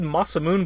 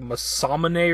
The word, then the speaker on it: Masamune: on his sword II I've always said Masamune but looking it up it's like Masamune or something I don't know if